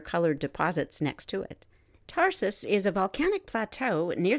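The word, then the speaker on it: Tharsis: the western portion of the Tarsus or tharsus it's spelled t-h-a-r-s-i-s volcanic Province the molten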